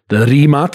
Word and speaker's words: Rimac: The roots, the heritage, the Rimac is how it's pronounced in Croatian.